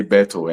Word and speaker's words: Berthou: Actually, okay, back home in Ghana, we used to say Beto, and that's all.